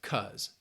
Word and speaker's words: because: pronunciation tip all right often times many native speakers will just pronounce it as cuz it just gets reduced in order to speak quicker and more efficiently and they just say